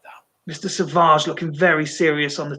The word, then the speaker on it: Savage: I believe that's the Australian pronunciation, Savage.